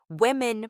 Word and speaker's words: women: It's actually buhri, women pronounced like woman. Women sounds like women.